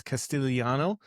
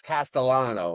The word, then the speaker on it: Castellano: And Eric, I always want to say your last name at Cast as Castelliano, but I know that's not right. Can you pronounce it for me because I don't speak Italian. Yeah, it's Castellano. It's Italian.